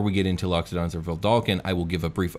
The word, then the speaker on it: Vedalken: And before we get into Loxodons or Vedalken, I will give a brief overview of the guilds that are pertinent to the lore of these races.